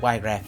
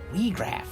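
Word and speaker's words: Wiegraf: Wheatraff, wait! Weegraf. I keep saying it wrong.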